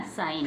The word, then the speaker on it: sign: अब हम जी के तुरंत बाद एन है, जी के तुरंत बाद एन है, तो जी को साइलेंट रखेंगे। क्या बन गया, साइन।